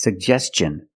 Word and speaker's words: suggestion: suggestion that's right it's suggestion because the ti n is after an S make the hard CH sound like chicken suggestion let's look at the